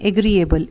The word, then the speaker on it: agreeable: in double e o e y e agree agreeable a g r double e agree a g